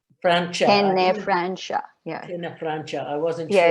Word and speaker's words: Tenefrancia: Tenefrancia. Francia. Tenefrancia. Yeah. Tenefrancia. I wasn't Yeah, sure. it's tricky because of the C. Pardon? So the letter C is pronounced SH.